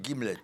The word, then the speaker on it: gimlet: Donc, nous avons l'honneur d'avoir le titre de votre prochain roman, Deux Guillemets, c'est ça? Deux Gimlets. Un gimlet, ça s'écrit G-I-M-L-E-T.